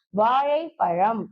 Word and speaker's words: வாழைப்பழம்: இன்னொரு சிறப்பு பெயர் ஓகேங்களா அடுத்தது பார்த்தீங்க அப்படின்னா ழ ஓகேங்களா வாழைப்பழம் அப்படின்னு நம்ம சொல்லுவோம் அப்போ வாழைப்பழம் அப்படின்னு நம்ம சொல்ல மாட்டோம் கரெக்டா இப்ப வாழைப்பழம் சொல்லும்போது இந்த லாக்கான உச்சரிப்பு பார்த்தீங்கன்னா மொத்தமா வேற மாதிரி இருக்கும் நாவின் நுனி மேல்நோக்கி இது